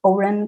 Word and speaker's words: Oren: I am not sure if I pronounced Oren correctly.